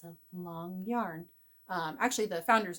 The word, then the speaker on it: Lang: keep hearing people pronounce this as Lang Yarns it's long Yarns it's a German company Long which is actually